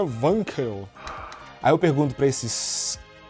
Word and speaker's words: Wankel: você está falando errado Como se pronuncia o em que se pronuncia wanquel Aí eu pergunto para